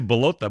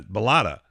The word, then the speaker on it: Ballotta: I'm going to say Ballotta, but it's not. Ballotta. Correct? Ballotta.